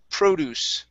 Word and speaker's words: produce: Next up is produce. Stress at the very beginning of that word.